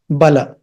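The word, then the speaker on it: bāla: Bala doesn't mean baby, but if you write it in the IST notation, if you say BALA, it is Bala. But if you say B and an A with a horizontal line above it, B, A horizontal line above it, then L, then A, then it becomes Bala.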